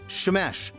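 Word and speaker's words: שמש: So the Hebrew word sun is shamesh, with a like a sh, shamesh.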